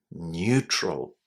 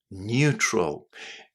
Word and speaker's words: neutral: little trick that words in English that start with neu are generally pronounced as new at the beginning.